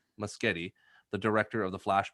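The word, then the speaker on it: Muschietti: andy instagram instagram andy uh and i wanna butcher the last name rob i think you say it better than i do it's musgeti musgeti the director of the flash movie uh did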